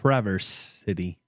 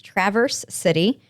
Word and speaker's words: Traverse City: city okay well i stand corrected it's yes traverse city it is traverse city um and i wrote back to her uh